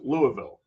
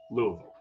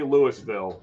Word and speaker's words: Louisville: not want to say so it's Louisville that's how you say it Louisville um do not say Louisville or they will know that you're not from there it's Louisville you just say it